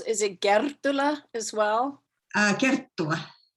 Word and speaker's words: Kerttula: Kerttula. Kerttula. Yeah. Well, we both mispronounce our names.